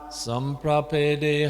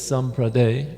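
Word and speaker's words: सम्प्रपेदे: So the third line where it says there's samprade, it should be samprapede. Samprapede. There's a PE missing, the second last syllable.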